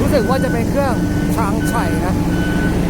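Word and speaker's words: Changchai: ว่า จะ เป็น เครื่อง ชาง ชย นะ s a g C AI ครับ น่า จะ อ่าน ว่า ช้างชัย แบรน จีน ครับ ผม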